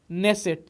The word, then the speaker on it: Knesset: तो इसके संसद का नाम है नेसेट। क्या है, देखिए स्पेलिंग, KNESSET। तो ये नेसेट जो है यहाँ के संसद का नाम है, के साइलेंट रहता है, ओके।